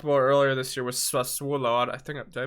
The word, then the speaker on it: Sassuolo: Another club that we talked about earlier this year was Sassuolo. I think did I pronounce that right? Yeah, I was about to say Sassuolo.